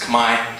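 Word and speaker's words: Khmer: in English so that they can and sometimes Kamai Kamai is the the people group sometimes people know it as K but it's actually pronounced Kamai just so ding you know so um yeah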